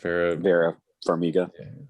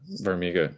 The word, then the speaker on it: Vera Farmiga: So I liked Patrick Wilson and I can never pronounce her name. Vera Farmiga. Farmiga, yes.